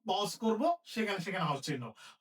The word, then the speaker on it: চিহ্ন: আমরা দেখতে পাচ্ছি যে ন আমরা আগে পড়ি হ আমরা পরে পড়ি তাইলে এখানে হ এবং ন এর মধ্যে কোনটা কোনটার উচ্চারণ আগে হবে নয় উচ্চারণ আগে হবে তাহলে কি লিখতে হবে আমাদের এটার উচ্চারণ লিখতে হবে চিহ্ন চিহ্ন এটার উচ্চারণ আমরা লিখব চিহ্ন এরপরে বয় সে জফল আছে